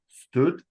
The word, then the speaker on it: std: know the what they they pronounce this stood right it stands for standard STD right it you you